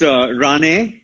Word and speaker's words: Ranney: pronounce it uh okay my surname is pronounced rane and it is a sindhi surname but it got changed